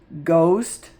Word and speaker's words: ghost: Ghost. Hey, there's a gh. The h isn't talking.